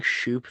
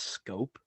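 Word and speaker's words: Schoop: And Have I quickly, been saying shoop this entire time and it's been pronounced scope? it is. It's pronounced Scope.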